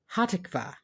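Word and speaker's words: Hatikvah: this one right now hatikva the national anthem of Israel is that I get it right close we stress the second syllable I put the accent on the wrong salable there well you fixed it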